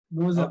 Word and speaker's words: Nozzer: Is it Nozzer? Yeah, right. Nozzer. Oh. How do you pronounce the last name?